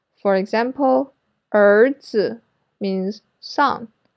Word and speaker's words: 儿子: This sound is similar to the ER sound in writer in American English, but it's longer. So raise your tongue a little higher and hold the position. So remember to pronounce it a little bit longer.